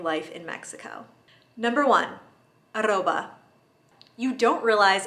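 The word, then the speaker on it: arroba: the way there but what about the at sign in spanish it's aroba so an email address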